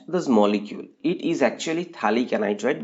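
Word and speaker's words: phthalic: molecule it is actually talic anid by the way it name is pH th h a l i then anhydrite now this pH is silent now this is talic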